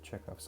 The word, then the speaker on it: Chekhov: initially titled the poem i'm tired of people mispronouncing czecho because it's more of an h than a k but it also double as an idea of of the expectations that chekhov sets up according to